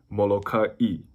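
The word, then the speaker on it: Molokaʻi: So if you see the apostrophe looking thing, that's called an okina. It's considered a letter in the Hawaiian alphabet. So it's always going to be between two vowels, and it's a break between the vowels. That's why, like, Molokai, Kauai.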